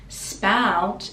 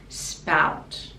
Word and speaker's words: spout: here is my spout spout is basically where the water comes out spout and again we can pronounce the t spout or stop the tongue at the top of the mouth spout here is my